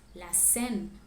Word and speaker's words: la Seine: Paris is known for its attractions, and here is how you pronounce them in French. La Tour Eiffel, le musée du Louvre, la Seine, la cathédrale Notre-Dame, Jardin du Luxembourg, Arc de Triomphe, Montmartre et Sacré-Cœur, Centre Pompidou.